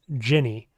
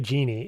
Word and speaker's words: Djinni: Yeah, the corre correct pronunciation is Jinny. It's It's not technically genie. It is jinny with a J. No D.